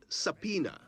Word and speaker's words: subpoena: you said it right subpoena the b is silent it is derived from